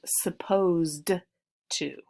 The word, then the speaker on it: supposed to: supposed to is a modal verb and it's pronounced supposed to supposed to and have to are similar in